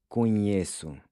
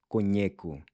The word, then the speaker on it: conheço: With conheço, the regular C gets replaced by a cedilla. This is to preserve the soft C sound. Conheço. Because without it, it would be pronounced conheco.